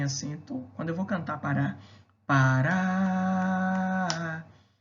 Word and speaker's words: Pará: Quando eu vou cantar Pará, Pará, Vatapá. Perceba que a sílaba em que mais demoro é o Rá do Pará e o Pá do Vatapá. Significa dizer que são oxítonas.